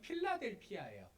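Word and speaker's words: Philadelphia: 오늘 본문의 빌라델비아 교회는 영어 발음으로 하면 필라델피아예요.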